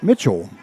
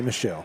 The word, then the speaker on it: Michel: And as you guys can see, Mitchell is spelled M-I-C-H-E-L, but it is pronounced Mitchell. Do not say Michelle.